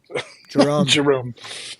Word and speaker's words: Jorund: In Mythos, the ND, the combination of ND is pronounced M, like an M. So Jerome.